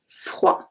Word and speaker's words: froid: It will be chaud, froid. I would not pronounce the last letter, which is D.